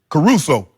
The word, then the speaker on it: Caruso: Caruso.